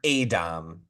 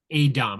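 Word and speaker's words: a'dam: I will say I did really like the way the show chose to build the Dame is how they say it, or Adom. Adom.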